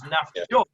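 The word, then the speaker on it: נפשות: But if we're going, what Rabbi Akiva is saying is that we are going according to it's pronounced, which is nafshot.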